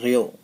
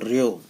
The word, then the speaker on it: rho: Pronounce कैसे करेंगे बेटा, इसको प्रोनाउंस करेंगे, बोलेंगे कैसे, रेयो, RHO, रेयो, ठीक है।